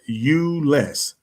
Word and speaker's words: Euless: That's how you pronounce that city. Euless, Texas. Got you. Well, welcome. Thank you for being with us. I've never heard of Euless, Texas. She spelled it YOU/less. I was like, okay, I can pronounce that.